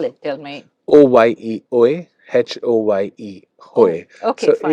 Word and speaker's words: Oye: And how do you spell it? Tell me. OYE, OE, HOYE, Hoy.